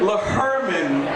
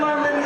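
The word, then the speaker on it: Lehrman: funny young guy L Herman he says don't pronounce h in his name but God damn he's getting it cuz his mama worked hard for that and lurman is a graduate of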